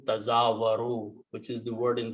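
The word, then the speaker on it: تزاور: The letter is there, the meaning is there, but we are not pronouncing this first ta here. So we are pronouncing tazawaru, which is the word in the Quran.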